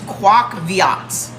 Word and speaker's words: Quoc Viet: It's Quoc Viat. The brand is Quoc Viat. It's spelled Quoc Viet.